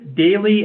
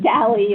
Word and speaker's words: Daly: I am here to report on how Marcus Daly and Henry Villard pronounced their names. And it is Daly and Villard, let the record show. So the discussion, Dally and is- Lard.